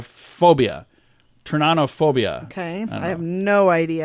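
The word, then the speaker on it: pteronophobia: turn on o phobia apparently it is the P is silent that is so weird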